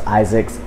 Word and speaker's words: Izix: pronounce my name because it's spelled iix which is just Isaac's but they already knew